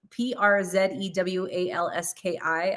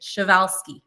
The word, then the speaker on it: Przewalski: And if you guys look at how the word is spelled, it's P-R-Z-E-W-A-L-S-K-I, I believe. And it's the last wild herd of horses that exists. But I had to look up how to say it. Przewalski.